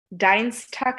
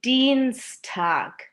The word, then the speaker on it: Dienstag: আপনি যদি জার্মান ভাষায় আই আর ই একসাথে দেখেন তখন আপনি ই সাউন্ডটা করে উচ্চারণ করবেন, আর যখন আপনি ই আর আই একসাথে দেখেন তখন আপনার প্রনাউন্সিয়েশন হবে হচ্ছে আই।